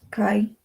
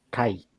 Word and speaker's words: kaj: porque recordemos de que esta letrica de acá se pronuncia como una i en el Esperanto, y pues el i de conjunción en el Esperanto se escribe Kai.